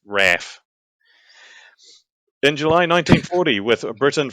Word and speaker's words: RAAF: Force or the raaf or if you're Australian rap that's how they say it they it's Raph in July 1940 with